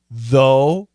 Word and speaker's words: though: of the words thought though throughout t-h-o-u-g-h-t thought it's an aw thought thought though it's a long o though though and throughout it's